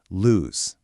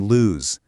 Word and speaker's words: lose: Now listen really carefully to the sound lose. It ends with that buzzing Z sound, like a B. So you have loose, SSS, and lose, ZZZ.